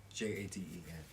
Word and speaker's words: Jaden: Yeah, she said we're pronouncing it right, yes. Jaden.